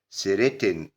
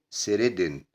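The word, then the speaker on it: threaten: سيريتن وبرضه التي ممكن تتنطق دي فتقول سيريدن.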